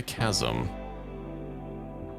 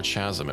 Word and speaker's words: chasm: It's in a chasm. or Chazm if you want to mispronounce it.